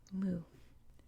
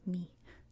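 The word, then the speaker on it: μι: looks like this and in english we call this letter mu mu but in greek it's pronounced me me i know it's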